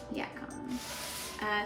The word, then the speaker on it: yacon: Yacon.